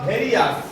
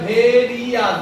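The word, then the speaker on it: various: হবে দেখো কি হয় ভেরি ই আস ভি এ ভে আর আই ও ইউ এস ভেরি ই আস ঠিক আছে ভেরি আস এখানে ভারি এটা হবে না ভার ই আস হয়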